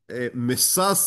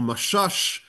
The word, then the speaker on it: Messas: and we speak about Ravse meas or Mashash both pronunciations are being used so you can uh you are free to choose.